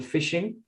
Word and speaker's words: phishing: scams is something called phishing the spelling is actually with a ph so it's a silent p and this is effectively